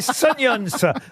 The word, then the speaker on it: Sunions: Non, mais particulièrement dans- écoutez, ce sont des Sunions. Le nom, c'est Sunions. Ça s'écrit S-U-N-I-O-N-S.